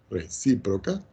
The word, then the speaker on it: recíproca: Es decir, que si yo tengo P implica Q, y yo digo entre comillas acá, condicional dada, entonces, la recíproca, acento en la I aquí, recíproca, de P implica Q, que es lo que tengo aquí, es Q implica P.